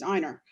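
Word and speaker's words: Ina: of New York, and his wife's name is spelled I-N-A, and she's Einer.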